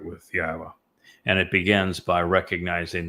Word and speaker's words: Yahowah: Um, Yahwa, I explained how to pronounce three of the four letters and the